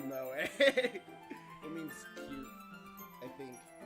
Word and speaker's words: moe: No, it's it's pronounced moe.